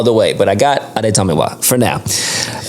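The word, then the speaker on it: Adetomiwa: I'm going to work on that because I have it phonetically spelled correctly here with the A's and the days and the Tamiwa. So Adi Tamiwa.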